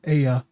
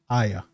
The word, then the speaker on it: Aya: Not Aya, it's Aya. Trust me, I looked it up. I've heard the Japanese say it, so I'm gonna say Aya. It has her in it,